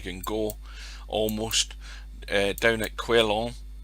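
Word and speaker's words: Quellón: We're down at one here, probably about as far south as you can go, almost, down at Quellon in Chile, or Quillon, however you want to pronounce it.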